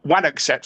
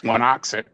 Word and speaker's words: Wanocksett: Um, how did I find myself at, uh, Wanaxit, or or Wanaxet, as I called it once, and people said, "No, no, no, you don't pronounce it like that. It's Wanaxit."